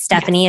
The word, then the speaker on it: Stephynie: so um so everybody my name is spelled a little differently i'm sure you'll link it it's stephanie it's s-t-e-p-h-y-n-i-e um last name is